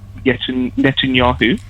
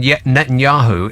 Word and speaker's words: Netanyahu: Well, the strangest thing about Benjamin Netanyahu is that the last two syllables of his name are Yahoo.